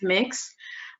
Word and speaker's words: Mx: So the MX is pronounced mix.